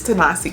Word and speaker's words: Ta-Nehisi: We did The Water Dancer, and I believe I've been saying this author's name wrong. Ta-nehisi. I think it's Ta-nehisi Coates.